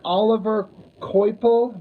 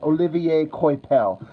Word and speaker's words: Olivier Coipel: yeah it it it looks like Oliver Kel but I believe it's French and I believe I heard his name pronounced as Olivier coipel that's not me trying to sound fancy it's just I what I think it is um yeah if